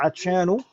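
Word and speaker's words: عطشان: Tidak boleh kita baca atshanun, nggak boleh. Atshanu yang betul.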